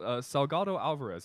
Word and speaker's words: Salgado-Alvarez: And we're here with Daniel Salgado-Alvarez.